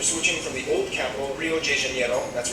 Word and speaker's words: Rio de Janeiro: from the old capital, Rio de Janeiro. That's right, it's pronounced Rio de Janeiro, not Rio de Janeiro. Get it right, we're not in Mexico, this is Portuguese, not Spanish.